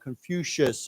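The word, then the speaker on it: Confucius: the newly added Our Confucious birthday. Let's say it again. This is pronounced with a shh sound. Confucious.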